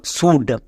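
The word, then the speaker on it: should: সো এস এইচ এর জন্য তালিবস হয়। বাট এখানে দন্তস হবে। ও ইউ এর জন্য হসুকার। নেক্সট। তারপর চলে আসো এল এর পরে ডি আছে এল সাইলেন্ট। ডি এর জন্য ডো তাহলে এর উচ্চারণ কি দাল সুড বোঝা গেল আমরা যদি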